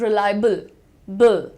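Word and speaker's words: reliable: Call it रिलायबल बल।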